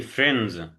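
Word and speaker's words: friends: اصدقاء يعني فاينزين ما تنطقش الدي فرز اوكي ماشي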